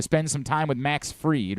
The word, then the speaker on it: Fried: into a lather about does it bother you that his last name is is actually pronounced fried and he doesn't want